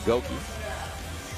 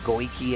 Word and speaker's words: Goki: We got to give a shout out to Goki. His proper name. I always say it wrong. I used to be like Goiki and everything.